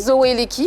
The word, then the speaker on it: Zoua Eleki: On pourrait citer parmi tant d'autres les collaborations avec Félix Ouazekwa sur le titre Boye Zoua Eleki, je prononce bien. Zoua Eleki. Zoua Eleki, voilà.